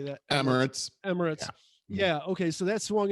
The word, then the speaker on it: Emirates: Emirates.